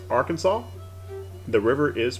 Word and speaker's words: Arkansas: spelled exactly the same however the state is pronounced arkansas the river is pronounced arkansas don't know why